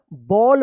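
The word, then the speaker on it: ball: बॉल पढ़ेंगे।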